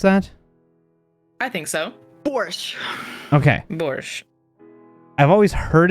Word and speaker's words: borscht: Borscht. Okay. Borscht. I've always heard it. I don't think I've ever seen it spelled, so I had to make sure The that... T is silent.